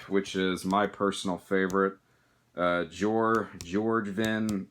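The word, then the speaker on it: Bjoergvin: And we have the follow-up, which is my personal favorite, George Vin, or however the fuck you're supposed to pronounce it. I don't know. I'm pretty sure the B is silent right there, so.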